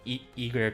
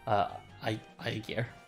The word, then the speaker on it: Aegir: look at English transliterations, they really say it as in every single way you could say it, from Eager to Aegir to Aegir to. So I just went with the original pronunciation of Aegir.